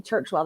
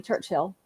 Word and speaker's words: Churchwell: I mean, people say mine wrong, and mine's only Churchwell. They all call me Churchill.